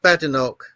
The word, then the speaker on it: Badenoch: Yeah, I believe it's pronounced Badenoch.